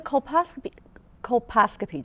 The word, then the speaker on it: colposcopy: So the colposcopy, did I say it right?